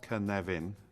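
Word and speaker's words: Cynefin: this is the kenavian framework uh pronounced ken nevin for those of you who don't speak welsh we take the three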